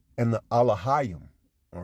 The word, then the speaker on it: Elohim: You would pronounce it Alahayim, all right, which means gods, judges, or powers.